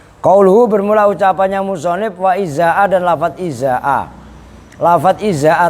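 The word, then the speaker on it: إزاء: Nah yang berikutnya izaa, cara bacanya Alia mana? Jangan tidur. Izaa, ini kan dorof kan gitu kan. Hamzahnya dibaca kasroh, hamzah yang pertama, zainya dibaca fathah.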